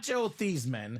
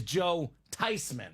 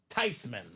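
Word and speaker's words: Joe Theismann: a lie it's not Joe thieman what it's not Joe thyman huh the proper pronunciation is Joe tyman no way tysman tysman it's a German name should be pronounced tysman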